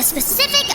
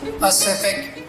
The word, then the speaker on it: Pacific: your juvenile game snoozer is exploring the specific ocean inaccurate it is pronounced pacific ocean p a c i am incapable